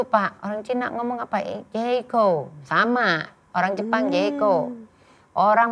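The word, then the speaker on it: J.CO: Jeko.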